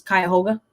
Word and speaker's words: Cuyahoga: In my case, it's Cuyahoga. I believe that's how you pronounce it.